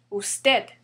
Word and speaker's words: usted: Also the second one, usted, it ends with a D, which is a consonant, and it's not N or S. That's why the stress falls on the last syllable. Usted.